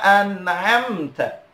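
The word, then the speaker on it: أنعمت: Alladzina an'amta. An'amta. Yang pertama hamzah. A. An'amta.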